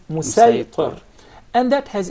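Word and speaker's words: مصيطر: with a specific dialect, the Sad will be deliberately pronounced as Sin. For example, when we say Musaytir, we'll recite it as Musaytir.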